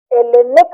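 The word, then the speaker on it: Hellenic: तो जिसको वर्तमान में ग्रीस कहते हो जो स्वयं को आज की तारीख में एलेनक रिपब्लिक कहता है जिसमें बेहूदे में आगे में एच भी जुटा हुआ है। एच साइलेंट है। एलेनिक एल वंश के हैं।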